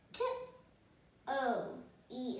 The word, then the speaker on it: toe: As I said, E becomes silent, then O becomes the longer sound. O, T, O, E is silent, toe.